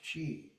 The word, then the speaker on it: qi: Chinese qi is pronounced chi prana kiq chi.